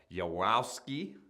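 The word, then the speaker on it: Yaworsky: appointment to a Michael I'm gonna totally mispronounce this but yawowski y-a-w-o-r-s-k-y now Mr yaski has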